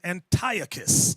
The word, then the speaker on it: Antiochus: Some people pronounce his name Antiochus. I've seen that on the Discovery Channel.